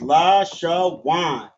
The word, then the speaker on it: Lashawan: So it's pronounced la sha wan.